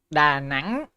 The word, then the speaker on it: Da Nang: Da Nang? That's the right way to say it.